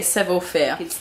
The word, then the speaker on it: Savoir Faire: But if not, if I'm saying it right, but just for now, I'm going to say Savoir Faire.